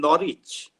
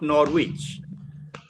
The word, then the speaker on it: Norwich: corrected me and said do you mean Norwich Norwich so it is not Norwich similarly a place in